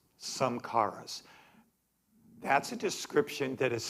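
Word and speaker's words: samskaras: He calls, I mentioned this last week, but I pronounced the word wrong. It's called samkaras. Samkaras.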